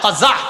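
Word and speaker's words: قزع: বলেন আমার সাথে সবাই কজা বলেন আবার বলেন কজা কাজা কফ যা আইন বানানটা কজা বলেন কজা কজা করা নিষেধ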